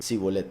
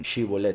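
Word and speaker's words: שִׁבֹּלֶת: Los de Efraín, que no sabían pronunciar, lo pronunciaban con Samech, como ese nombre, con Samech, he aquí el caballo, Sibolet. Mientras que los que sí podían pronunciar, lo pronunciaban con Shin, Shibolet, como el gozo de la congregación verdadera que Yahweh manda a gozarse, con Shin.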